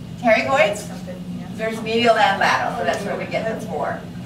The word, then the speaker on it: pterygoid: The first letter is silent. It means its name means wing. Pterygoids?